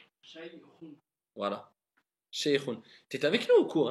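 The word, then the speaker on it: شيخ: Dis kha. خ Khou. Khi. خي Voilà, faut bien appuyer. Shaykhun. شيء Pas shaykhun. Shaykhun. شيء Voilà. Shaykhun.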